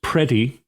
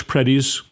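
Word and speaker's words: Pretti: Partially is that the guy who should still be with us, Alex Prey, I believe is how you pronounce his name. It's p re tti.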